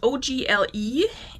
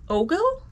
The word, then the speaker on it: Ogle: the brand is spelled o-g-l-e and there is a pronunciation key ogle i think ogle noun flirtatious look bedroom